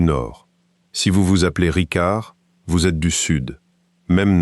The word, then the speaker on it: Ricard: Au Sud, il garde le C dur de la langue d'Oc, Ricard.